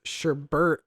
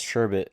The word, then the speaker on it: sherbet: but and then there's sherbert no there is no r sure r is less common there's just sure the same thing yeah it's sherbet i think it's just